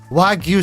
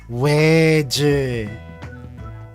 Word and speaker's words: Wagyu: exposure section the way that I have been pronouncing it, because look at this. Wagyu selection? No. Wedge.